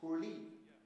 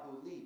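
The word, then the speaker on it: ಹುಳಿ: That's pronounced Hurli. But it's written H-U-L-I, Hurli, because you don't have this weird la sound in English. It doesn't exist.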